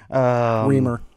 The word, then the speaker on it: Remer: Remer, yes.